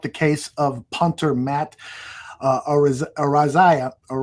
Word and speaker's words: Araiza: case of punter Matt Araiza, I think is the pronunciation. Well, that's what I was talking about. Matt Araiza. That's how you say Araiza, yeah.